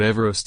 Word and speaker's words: Everest: rest not everesh dash as per the pronunciation of the british surveyor's surname everest was originally named